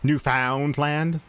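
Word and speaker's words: Newfoundland: he'll mention Newland but he'll say New Found land I want to kick everyone in the deck that pronounces it New Foundland a straight shot it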